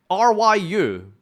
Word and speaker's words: Ryu: name in the chat what how do you pronounce R Yu Jonathan okay most of you are saying Ryu